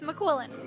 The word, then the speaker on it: McQuillan: Did I say it right then? Yes, it's McQuillan.